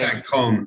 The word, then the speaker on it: Saint-Cosme: It's actually Saint-Côme.